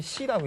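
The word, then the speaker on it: 侍: 우리는 이걸 시라고 읽죠.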